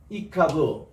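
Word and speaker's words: יקוו: 이카부, 이카부. 우리 영어로서 어린아이들에게 피카부 이것을 우리가 하거든요. 이거하고 발음이 비슷합니다.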